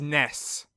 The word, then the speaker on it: Ness: the internet that can officially announce the pronunciation is ness joining me today SAFF I'm so happy that the facts have become clear and that the right way of saying it is Ness unlike the heathen that's